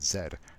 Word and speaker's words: zed: to wxy Z and yes I'm Canadian we pronounce it Zed not like those subhumans to the south of us now that we have